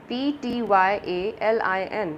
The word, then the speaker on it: ptyalin: Here P is silent, P-T-Y-A-L-I-N. This is called ptyalin.